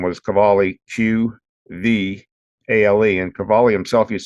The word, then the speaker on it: Qvale: I say Kjell Qvale, the name that my phone spells is Cavali, which is like an Italian name, but that's actually the way you say it, Qvale.